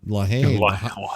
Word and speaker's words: La Haine: So I mean, actually, you pronounce it La Haine, but no, we say La Haine here. So yeah, it sounds more like the hate.